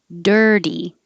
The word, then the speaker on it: dirty: like a d turtle dirty the t changes to a d dirty and now these